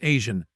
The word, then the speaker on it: AZN: He was often seen racing alongside his best friend AZN, pronounced Asian, a fellow car enthusiast.